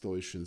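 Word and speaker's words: Stojšin: My last name, incidentally, is pronounced Stoichin, since we're already talking about pronunciation of names. Basically, J in Slavic languages is pronounced as a Y, and the second S in my name is actually an SH. It has a little hatchet in original Serbian.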